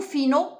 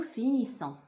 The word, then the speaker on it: finissons: bien on dit nous finons notre travail? Où est la réponse qui est juste? Donc c'est le voilà. On dit nous finissons. On ne dit pas nous finons. C'est faux.